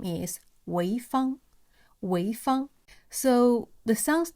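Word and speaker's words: 潍坊: And We Found coincidentally has totally same pronunciation as a city in Shandong province, China. And the city's name is Weifang.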